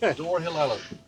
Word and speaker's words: Dyrhólaey: With the correct pronunciation. Did you hold that A? I remember that. Yep. Dyrhólaey.